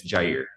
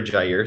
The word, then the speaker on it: Jair: So it is interesting how to answer your question, it's Jair, but I respond.